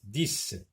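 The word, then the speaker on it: dix: Donc, 10, X se lit S.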